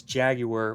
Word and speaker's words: Jaguar: Kind of like Jaguar and Jaguar. I think you say Jaguar like Jaguar when you're talking about the animal, and it's Jaguar when you're talking about the British car manufacturer.